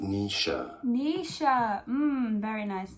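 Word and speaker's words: Naoise: Irish name pronunciation, Nisha.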